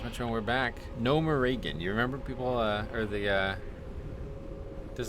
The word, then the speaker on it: Gnomeregan: Gnomeregan is what I would always say, but I guess Gnomeregan is right.